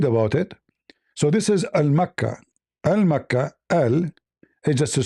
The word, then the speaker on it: Makkah: The Yemeni, they use the word, the letter Ka, in their language, it comes sometime as Qa. Mecca, Makkah.